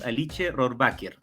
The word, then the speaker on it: Alice Rohrwacher: Sí, a todo el mundo le cuesta porque tiene por un lado que es italiana y su apellido es de origen alemán. Es Alice Rohrwacher.